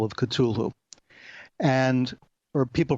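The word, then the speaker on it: Cthulhu: map was a story called The call of cthulu and or people pronounce it cthulu in different ways I prefer cthulu for reasons that'll become clear but so the call of culu was like his seminal story this was the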